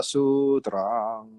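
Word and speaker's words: sūtram: But when we chant it as a Dharani, we extend the vibration of the last word, last syllable. Tra, drang. So it's Prajna Paramita Hridaya Sutrang.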